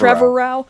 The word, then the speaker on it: Trevorrow: 9, as Colin, what is his last name pronounced? Trevorrow?